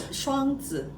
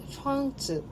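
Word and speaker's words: 双子: Is that how how do the Tai- Taiwanese people pronounce? It's Shuang-tzu. Shuang Shuang-tzu.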